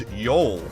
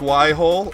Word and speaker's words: Yhole: clearly spelled y y-h-o-l-e which would be pronounced as yol discuss discuss why whole